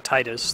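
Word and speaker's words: Tidus: Yeah, I actually need to give stream 5 sphere points if you catch me saying Titus, the correct pronunciation.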